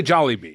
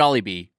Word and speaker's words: Jollibee: I really wanna how talk do you about pronounce Jollibee. Jollibee or Jollibee. Jollibee? I say Jollibee.